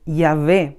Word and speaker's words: Yahvé: Este tetragramatón se llama a las 4 letras ya unidas y en su pronunciación es Yahvé, aunque muchas personas también